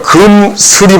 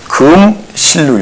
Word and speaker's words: 금슬: 그러니까 금슬이 맞는 거죠. 금슬. 그런데 우리는 금실로 읽고 있죠. 요것을 이제 발음 편의상 그렇게 읽는다.